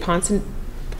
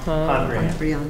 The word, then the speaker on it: Pondrian: is it, how do you say it, Ponson? Pondrian.